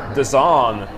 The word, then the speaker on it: DAZN: Sportsnet, une application qui se prononce en fait The Zone, et qui s'appelle DAZN.